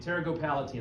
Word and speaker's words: pterygopalatine: Anyone know how you pronounce this word? Is that Tarot go palatine. Yeah, you guys, Palatine? yeah, you're right. Pterygopalatine.